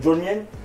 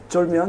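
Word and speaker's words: 쫄면: Donc c'est, tu vas me corriger parce que moi les prononciations coréennes c'est un peu dur Ok. encore pour moi. Donc on va faire le jolmien. Cholmyeon, ouais.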